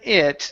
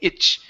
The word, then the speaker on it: it: Okay, now here with the word it, you're finishing that T. You're saying itch. Itch doesn't. Okay, give me a T sound or combine the T and the D. Okay, so you're actually pronouncing a CH, saying itch. Okay, it's it with your teeth together.